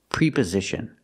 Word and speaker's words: preposition: snowed under with something the word is not pronounced preposition we use the short a sound like 10 and bed e e pre preposition we cannot use a long e sound it's a pre preposition preposition we have to use the short sound pre preposition prepositions everybody